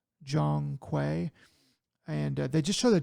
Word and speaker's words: Zhong Kui: This one is called Black Myth Zhong Kui, I think is how he actually pronounced it. It looks like Kui to me, but it's Black Myth Zhong Kui.